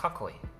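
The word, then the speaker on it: 囲い: exists in Japanese a castle is called a kakoy an enclosure this is often pronounced kakoy when put after another word for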